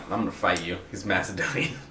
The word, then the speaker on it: Macedonia: been mispronouncing it know he called Macedonia called it makedonia and it was pissing me off the whole time every time he said it was like makedonia and I'm like no that sounds like mac